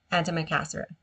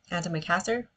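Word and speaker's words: antimacassar: Antimicasser. Okay. Antimicasser.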